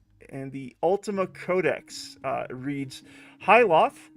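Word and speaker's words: Hythloth: And the Ultima Codex reads, Hyloth is actually how you pronounce it, is a dungeon located in the southern shores of the Isle of Avatar, near the Shrine of the Codex.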